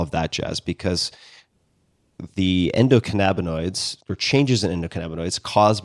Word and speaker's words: endocannabinoids: you can tell me how to pronounce this, endocannabinoids. Am I saying that correctly? Cannabinoids? Yeah, you are. How do you say this? What's the proper pronunciation on this? Endocannabinoids.